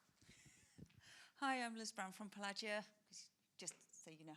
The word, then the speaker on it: Pelagia: Hi, I'm Liz Brown from Pelagia, just so you know how to pronounce it.